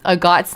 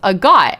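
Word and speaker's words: Agott: English dub that um a got's name was pronounced agot and it didn't you know rhyme with the slur.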